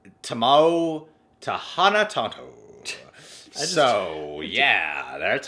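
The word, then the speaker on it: Timo Tjahjanto: Here's the proper way to pronounce it. Tamao Tahana Tanto.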